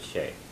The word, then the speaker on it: is: And even if it's spelled is-a, you still pronounce it she.